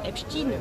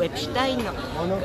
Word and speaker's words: Epstein: été arrêté qui s'appelle Monsieur Epstein ou Epstein, chacun sa façon de prononcer, bien bien sûr.